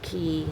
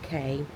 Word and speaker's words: cay: The word C-A-Y, but often pronounced Key, some areas pronounce it K, is a small lying